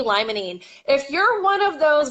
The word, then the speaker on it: limonene: for you D - limonene Li mo n like lime Mon e and and yeah it's